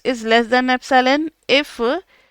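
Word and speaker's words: epsilon: अच्छा एप्सिलॉन का आपको पता है ना कि क्या इसको प्रोनाउंस करना है? एप्सिलॉन।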